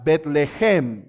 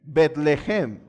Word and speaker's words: Bethlehem: en donde hay hambre se llama belén pero la palabra hebrea realmente se pronuncia bethlehem bethlehem y saben qué significa